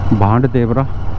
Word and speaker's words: भांड देवरा: भांड देवरा। भांड देवरा बोलते हैं या भंड देवरा बोलते हैं वो लोकल का प्रोनाउंसिएशन है और वो क्रिएटर के पास बना हुआ है।